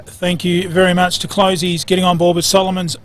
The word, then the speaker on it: Closey's: Brucey, is it Closey's or Closest, do you reckon? Well, I think it's pronounced Closey's Supermarket, and look, many thanks to the guys down there at Closey's bringing us today's coverage.